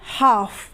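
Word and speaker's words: half: क्या है साइलेंट है उसी तरीके से हाफ अब हाफ में भी एल किस पहले ए रहा है एफ से पहले ए रहा है इसलिए एल क्या है साइलेंट है यानी की वो नहीं बोला जा रहा हम क्या बोलते हैं हाफ बोलते हैं हम हाफ तो नहीं बोलते क्या बोलते हैं हाफ तो एल क्या है यहां पर साइलेंट है अब देखते हैं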